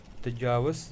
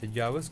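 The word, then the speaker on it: Thajiwas: तो एक हमारा ग्लेशियर भी है सोनमर्ग के पास, जिसको हम क्या कहते हैं, तजावस, ये स्पेलिंग मिस्टेक हुई है, TAGHIVAS, तजावस ग्लेशियर।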